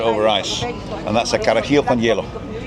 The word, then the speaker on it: carajillo: So it's called a carajillo. So carajillo. It's a J, but it's pronounced with a sort of a hard H.